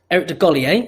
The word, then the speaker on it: Eric DeGolier: So obviously, before we get started, for everyone who doesn't know, Eric DeGolier, and please tell me I'm pronouncing your surname right, is the Well CEO.